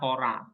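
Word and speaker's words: ὥρα: Alfa a seperti ini maka dibaca hora kok ada H dari mana h-nya dari mana ada h-nya karena ada Rough breaing Ini yang mana raough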